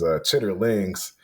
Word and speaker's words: chitterlings: So I guess the official pronunciation of it, I guess the dictionary pronunciation I would say is chitterlings.